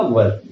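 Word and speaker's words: were: में खास तौर से, ये वर को वेयर बोला जाता है। तो प्लीज इसका प्रोनाउंसिएशन थोड़ा सा साथ में हम सुधारेंगे। ये वर वधु जो होता है उसी का प्रोनाउंसिएशन आपको यूज करना होगा, वर, राइट।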